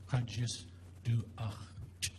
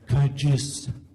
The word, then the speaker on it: Kadjisdu.axch: As I heard the name pronounced by my teacher, Herb Bradley, of the Stakhin Kiksadi, it's Kadjisdu.axch. So say it with me. 2 syllables at a time. Kadjisdu.axch. Great. There's no W in there. It's not watch. It's du.axch. Okay.